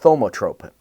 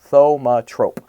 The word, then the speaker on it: thaumatrope: So what I am using this Sunday is we are going to make a thaumatrope, and it's a thaumatrope. It's, if I said that's how it's said, thaumatrope, and it's basically a precursor to the movies, and it's I love it.